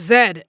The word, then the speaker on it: Z: in Canada they don't pronounce z as Z they pronounce it as Zed and that is crazy